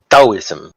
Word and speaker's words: Taoism: time what's funny is it's neither taoism nor taoism it's taoism it's it's a the tip of your tongue is hitting the bottom the back your bottom teeth while you're